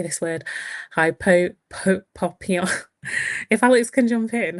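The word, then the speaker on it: hypopyon: Hypopia, if Alex can jump in, how do I pronounce this? Yeah, hypopian.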